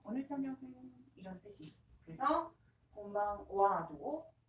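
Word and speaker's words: こんばんは: 그래서 곤방 와도 오늘 저녁 은는이기 때문에 와라고 발음합니다.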